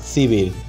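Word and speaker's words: Сибирь: Siberia, যার উচ্চারণ সিবির, প্রায় সমগ্র উত্তর এশিয়া নিয়ে গঠিত একটি বিস্তীর্ণ ভৌগোলিক অঞ্চল।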